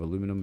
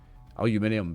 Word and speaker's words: aluminium: And Dave Ebbs got among the alleys and shanties of Aluminum Bay. Aluminium Bay. I'm no American. It's Aluminium Bay. It's how it's spelt though as well.